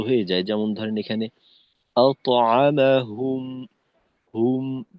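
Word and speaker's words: أطعمهم: তো তয়ের উচ্চারণটা একটু উম, শক্তিশালী হওয়া দরকার আর কি। যেমন আত, আত, আতআমাহুম, এরকম।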